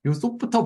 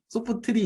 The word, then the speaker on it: Softr: 드림 그 다음이 소프트요 소프트 발음을 많이 어려워하시는데 소프트 소프트를 소프트리 이렇게 많이 말씀하시는데 소프트라고 발음하시면 될 것 같습니다 영상에서도 다 그렇게 말하고